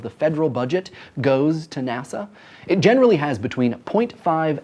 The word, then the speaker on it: NASA: Aeronautics and Space Administration is an acronym by the way not an initialism because we pronounce it NASA and not and a